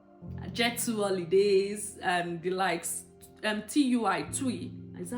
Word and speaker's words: TUI: TUI. Is that how they pronounce that airline's name? Yeah, TUI.